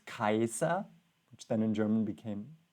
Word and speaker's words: Caesar: And now he quotes Cicero, which according to my Latin teacher is the right pronunciation, because Caesar was also not Caesar, it was Kaiser, which then in German became Kaiser, emperor.